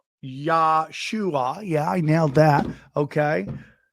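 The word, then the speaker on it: ישוע: And I think the teachings of Yeshua, okay, let's make sure the pronunciation is correct. Yeshua, yeah, I nailed that.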